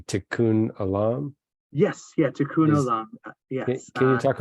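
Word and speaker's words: tikkun olam: think about the concept of I think I'm pronouncing it correctly tikkun Alam yes yes can you talk a little bit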